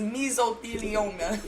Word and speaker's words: mesothelioma: K-Shine's lawyer said, I thought I had mesothelioma the last time I banged somebody on their period. Mesothelioma? Okay. It helps with cramps. Listen. What? Me personally, I'm with you, MyVerse. It's not even meso, it's mesothelioma.